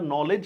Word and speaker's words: knowledge: যেমন ইংরেজিতে আমরা নলেজ লিখলেও মানে কনলেজ লিখলেও উচ্চারণ করতেছি নলেজ।